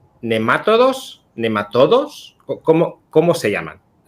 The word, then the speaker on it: nematodo: Bueno, respecto a la primera pregunta, que es básica, realmente se pronuncia nematodo en España.